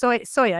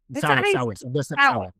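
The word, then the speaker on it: Sawe: Yeah, he wrote the article about, I can never, it's Soya, isn't it? Yeah, he's Sebastian Soy. Sour.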